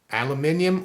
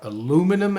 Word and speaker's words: aluminium: on Brazilian and contingent aluminium or aluminum as the Americans say and steel right he's